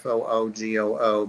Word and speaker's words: fugu: rare they're seasonal for sure and it's a fugu for pronounced fo geoo but spelled fu GU and they're the puffers